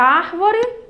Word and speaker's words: árvore: Árvore, tá vendo? Quando nós, a palavra termina em ré, mas quando nós pronunciamos, ela tem quase som do i, árvore, não é isso, gente? Mas a terminação dela é com é.